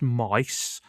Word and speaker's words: Myth: Yes, it's called it's it's called Common Rider Myth, M Y T H, but it's pronounced mice.